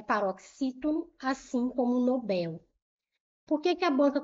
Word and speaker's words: Nobel: As pessoas falam Nobel, prêmio Nobel. Não é prêmio Nobel, é prêmio Nobel. Nobel, a sílaba tônica é a última.